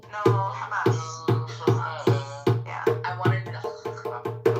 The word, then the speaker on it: Hamas: Hamas. No, Hamas. Yeah, I wanted to. it's not ha. I understand probably muscles in the back of your throat, like the ha sounds, whereas English, most of